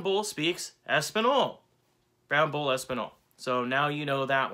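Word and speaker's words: espagnole: veloute next up is espinol well espinol is spanish and french if you were going to say spanish in french it's espinol so what i think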